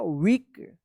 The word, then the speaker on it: weak: WEAK, EA एक साथ है तो ई उच्चारण होगा, वीक।